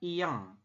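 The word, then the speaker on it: 이응: Nah, ini yang lingkaran ini namanya adalah iyeng. Nah, namanya adalah iyeng. Dia dibaca itu kalau peletakannya di akhir saja, berbunyi eng. Ya, kalau di awal tidak dibaca.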